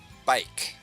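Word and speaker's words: baik: You can just say bike like a bicycle but I don't think it's spelled the same way. I think it's spelled with an a.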